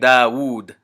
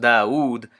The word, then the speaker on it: Dawood: So the classic example is the name Dawood.